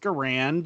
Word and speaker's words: Garand: are like I got an m1 garand it's pronounced garand and okay great its greatest battle room okay